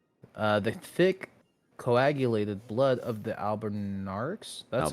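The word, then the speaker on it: Albinauric: The thick coagulated blood of the albinarix. That's how you pronounce it, right? Mm-hmm. Albinarix. Albinurix is usually how it's pronounced.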